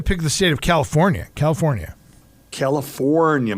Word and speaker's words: California: California. Make sure you pronounce the R.